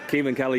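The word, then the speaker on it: Caoimhín Kelleher: Keeman Kelly, you'd never guess it from the way it's spelled, but it's a proper Irish name.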